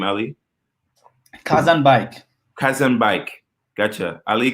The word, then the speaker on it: Khazanbeik: say your last name early cuz I'm bike cousin bike gotcha ally cousin bike whoo the title the title I'm giving you